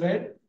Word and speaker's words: read: English this red you you pronounce it as red here also red okay